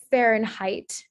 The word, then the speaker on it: Fahrenheit: nervous um and then for the i sound being spelled as ei uh fahrenheit um so the h-e-i-t